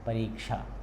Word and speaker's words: परीक्षा: बोलने में भी देखिए उच्चारण भी ऐसा है, परीक्षा, है ना, परीक्षा नहीं बोलना, परीक्षा बोलना है, ठीक है।